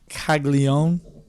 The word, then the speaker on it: Caglianone: Caglione. Caglione. Caglione? Yeah. There's an N in there. Caglianon. Caglianon. That's how it's. Because people always want to say Jack Caglione, but it's Caglione.